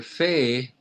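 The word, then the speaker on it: פ: Oh, Fei and Pei? Yeah, Fe and yeah, it's pronounced in Fe soft form and Okay. Pei hard form.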